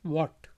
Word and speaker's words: what: एच जो है यहाँ पे साइलेंट है, चुप है, इसलिए इसको पढ़ेंगे वॉट।